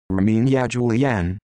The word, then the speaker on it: Erminia Giuliano: armenia giuliano italian pronunciation rominia julianne born december 31st 1955